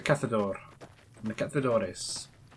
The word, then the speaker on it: cazador: Cazadores but if it if we're using the Spanish pronunciation of things should to be Cathal eros because that is a sound in Spanish right so it's a cathode or and they kept the